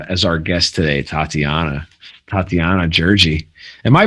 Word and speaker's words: Tatiana Gjergji: stoked to have as our guest today tatiana tatiana georgie am i pronouncing that right yeah you got it all